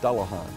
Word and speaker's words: Dullahan: Duan Duan get there the correct pronunciation is dullahan now having said that